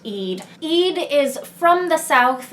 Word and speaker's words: Ead: Her name is spelled E-A-D. I'm assuming that's pronounced Eid.